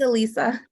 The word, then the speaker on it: Elisa: Next question from Alyssa, correct me if I'm mispronouncing. I'm gonna go with Elisa. It's Elisa.